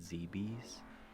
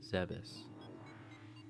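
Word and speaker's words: Zebes: say I hate, but a pet peeve of mine is when people pronounce it ZBs. I thought we were past that era, but occasionally I will still hear it in a video and I'm like, what are we talking about? It's Zebus.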